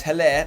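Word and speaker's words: Haller: was double decent likewise heller that is how you say it by the way sebastian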